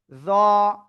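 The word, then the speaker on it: ز: এ অক্ষরের নাম হবে জ। ওই একই জায়গায় জিহ্বার আগা উপরের দিতের আগা এরকম লাগবে। লাগিয়ে একটু মোটা আওয়াজে উচ্চারণ করতে হবে।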